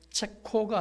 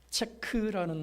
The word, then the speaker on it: 체크: 그러므로 체코가 아니라 체크라는 말이 옳습니다.